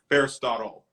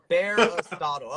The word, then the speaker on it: Bearistotle: Bearistotle. Damn it, like Aristotle, but Bearistotle. Okay, Yep. Bearistotle.